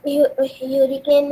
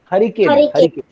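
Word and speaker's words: hurricane: हाँ सर, जो ह्यूरिकेन या थंडरस्टॉर्म होता है तो उसमें एक तो प्रोनाउंसिएशन ठीक करो, हरिकेन। ओके सर ह्यूरिकेन ही सुना है मैंने, तो ह्यूरिकेन गलत, जो भी बोल रहा है गलत बोल रहा है।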